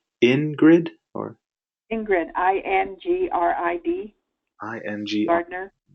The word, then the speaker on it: Ingrid: And so when Ingrid starts, she'll set up the classroom the way she wants it.